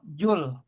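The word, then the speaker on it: ذو: Bacanya juga jangan jou kalau orang kebun kosong bacanya zul tapi bacanya zul. Zul. Zul. Zul. Iya. Jangan jul ya. Kalau jul itu nanti panjul nanti. Zul. Zul. Zul. Dza ituza. Dza. Tuh ujung lidah ada di gigi atas.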